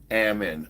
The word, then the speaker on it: Ammon: Amon, my name is pronounced like salmon. You just take the S sound. So Ammon, is that right? Ammon? Ammon.